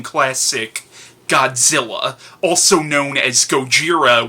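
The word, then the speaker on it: ゴジラ: Godzilla also known as Gojira which is the Japanese pronunciation of the title Sheryl Honda's magnum opus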